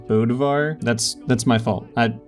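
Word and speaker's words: Bödvar: won with bodvar okay turns out it's actually pronounced bodivar that's that's my fault I sorry about that all right moving on from that back in 2017 Remy also played bodvar in the grand finals of bcx's 2v2 tournament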